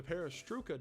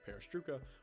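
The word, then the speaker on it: perestroika: by someone in Toronto the perestruca deception at least I think that's how it's pronounced is in reference to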